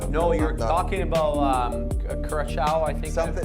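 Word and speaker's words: Curaçao: I was gonna say a good way to remember the Curacao pronunciation is the same as that blue Curacao. Like it's CU and then the Sao.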